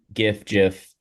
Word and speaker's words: GIF: But personally, for me, it's GIF because the G stands for graphic. It stands for a hard G word.